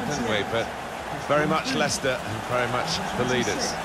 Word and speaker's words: Leicester: of the world try to learn how to pronounce their names. Lester. Lchester. We got a lot of that, didn't we? But very much Leicester and very much the leaders.